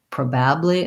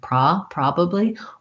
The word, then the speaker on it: probably: um yes i often that's one where i'll hear people stressing the incorrect syllable so they may say it more like probably instead of pra probably or they may have an error on that letter o saying something more rounded